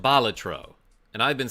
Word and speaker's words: Balatro: Yo, Frank Hines, this is Bolatro. I I guess technically it's pronounced Balatro and I've been saying it wrong.